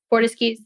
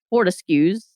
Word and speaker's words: Fortescue: a group and she got it from florian fordeski fortescues thank you i key i that's a mouthful